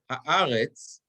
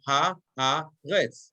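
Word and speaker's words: הארץ: So if I'm looking at the last word, haaretz, where the accent is going to be, I have ha-ha-retz. I have three syllables, ha-ha-retz. So is it going to be haaretz or is it going to be haaretz?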